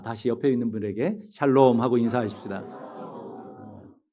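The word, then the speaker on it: שלום: 자, 다시 옆에 있는 분에게 샬롬 하고 인사하십시다. 발음을 잘하셔야 돼요. 샬롬. 그러지 마시고 샬롬 하고 하나님께서 주시는 은혜와 평강을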